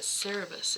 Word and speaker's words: Cerberus: is that the dog no but cerebus is right i don't know no yeah it is him okay i just been saying it wrong sweet focus on humility